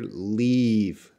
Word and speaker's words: leave: to leave her sorry so this short I and long I sound if you look at my mouth because pronunciation is always a physical problem so the first word leave you can see II II my lips are coming part here leave leave and live there's not much movement here live live live